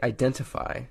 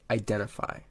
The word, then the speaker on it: identify: Stop pronouncing the T when you speak English. Don't say identify. Say identify. Identify.